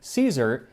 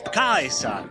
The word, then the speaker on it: Caesar: 1 Century BC Rome which would be with a hard C so instead of Caesar he pronounces it AUST Kaiser and attention to detail